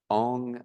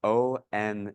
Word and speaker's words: Ong: beginners we'll just do one Mantra it is nam Guru Dev on sounds highly similar to The Sound om but it's uh pronounced a little subtly different and spelled differently as